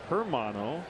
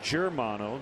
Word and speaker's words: Germano: but no it's scooter Justin germano has long been called Justin hermano with the uh soft soft G sound but it is germano just like it's spelled Xavier na prefers that